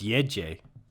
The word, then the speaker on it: Gece: it's Yeje. Yeje. I'm glad we're gonna try Gece. to pronounce these.